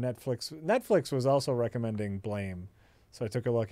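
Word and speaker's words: Blame!: I want to recommend blame pronounced blam on Netflix the mindblowing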